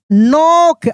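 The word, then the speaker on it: knock: क्या पढ़ेंगे हियर्ड अ नोक आपको साइलेंट लेटर में भी पढ़ाए थे कि के साइलेंट रहता है। के साइलेंट यहां पर रहता है।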